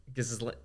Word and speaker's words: Ghislaine: I'm thinking of writing a one-man musical called Ghislaine. That's how you say it. Right? Is it Ghislaine? I mean, I know it's not. Like Rochelle.